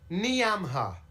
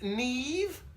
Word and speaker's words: Niamh: Niamha. Niamha? Who the hell is Niamha? It says here, Niamha. It's pronounced Neve? How have you got Neve from that Never mind.